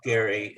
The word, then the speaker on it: Gerry: headings and um um it's actually spelled with a g not not jerry you know because it's spelled right now j-e-r-r-y but it's actually filled with a g because it's named after this guy who whose name was jerry with a g elbridge gary in massachusetts right yeah so um